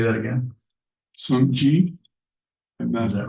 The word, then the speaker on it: Sokukoji: SokukoJi.